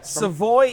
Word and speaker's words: Savoy: Here we are in Savoy, Illinois. Am I saying that right? It rhymes. It's supposed to rhyme. Yeah. Savoy, Illinois, which is right I mean, University of Illinois is just right there, right?